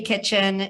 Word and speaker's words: Kitchen: Our next panelist is Kitchen. Is that how you pronounce it? Yes, thank you, Anna. Kitchen, and my husband and I own Interworks General Contractors.